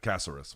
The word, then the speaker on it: Caceres: How did that lady at the store pronounce Caceres? Just like that, Caceres.